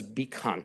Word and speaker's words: BCAN: Network it's spelled BC Bean but actually we pronounce it as beon like the beon of Hope beon of light